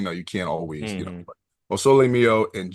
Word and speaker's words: O sole mio: I would assume it's Sol Mio. Close. O sole mio.